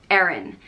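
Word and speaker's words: Erin: itself it is Aaron it is spelled e-r-i-n unpronounced Aaron it is derived from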